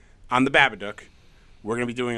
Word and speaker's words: Babadook: Rhymes with book. Babadook. On the Babadook.